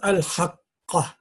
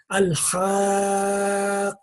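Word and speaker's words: الحاقة: Now this here is not pronounced al-haqqa. Because of this mad, you have to pronounce this 4 seconds, but somehow you have to join them together. So it will be al-haqqa. You see, it will be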